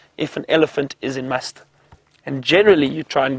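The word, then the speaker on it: musth: are in a stage known as must which is spelled m u s t h and apparently an Indian word must is the the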